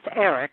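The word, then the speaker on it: Eryk: It's Eric, but that's the Polish spelling, E-R-Y-K.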